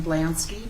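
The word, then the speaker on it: Blanski: remove your mask State your full name and spell it k e r r y last name blansky b l a n s k i huh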